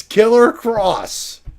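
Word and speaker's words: Killer Kross: It's Killer Cross.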